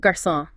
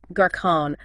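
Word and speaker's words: garçon: A O and U and it softens the C Sound making it like an S so instead of a hard C like in cat it becomes a soft s like incent exactly take the word garon ah gon without the Sadia it would sound like garon not very French not at all the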